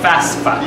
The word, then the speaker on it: FAFSA: Make sure you pronounce it FAFSA.